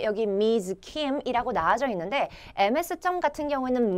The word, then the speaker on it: Ms.: Kim이라고 나와져 있는데 MS점 같은 경우에는 Ms라고 해서 z로 발음이 된다라는 거 잊지 마세요.